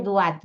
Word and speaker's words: duat: egipcia es el Inframundo se escribe duat así como lo pronuncio bien sencillo El